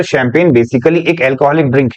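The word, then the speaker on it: champagne: चांदी ने अगर पढ़ के देखें तो यह शैंपेन बोला जाएगा सर दिस इज चैंपेन कि चैंपेन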